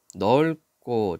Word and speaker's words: 넓고: 타는 곳이 혼잡하니 넓고, 자, 리을 비읍, 자, 기억이 올 때는 리을로 발음합니다.